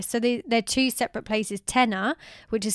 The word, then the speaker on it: Tena: Tena, which is spelled T-E-N-A, is a bigger kind of mini city.